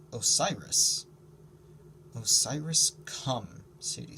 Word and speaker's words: Osiris: god of the dead woe seer i whispered i'd never heard it pronounced that way i mean the way i knew it was pronounced osiris osiris come sadie said